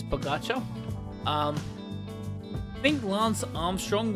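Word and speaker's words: Pogačar: So, By the way, if you do not know who um Pagacha is, Baga, I know it says Pogaka, uh Slo uh Venian uh pronunciation is Bagotcha.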